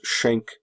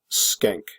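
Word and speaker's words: Schenck: sometimes referred to as shank V versus the United States I believe that the name is actually meant to be pronounced skank no jokes haha but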